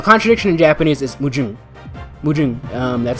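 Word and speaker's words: 矛盾: Mujun, that's how you say it.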